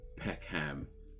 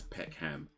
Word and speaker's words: Peckham: So for example, like, you know, Americans might say Peckham, you know, which is a part of London, like a town in London. They would pronounce it as Peckham, right? Whereas if you're from London, you just say you say Peckham. You say Peckham. Peckham. Like, you barely pronouncing the word properly at all at this point, just Peckham.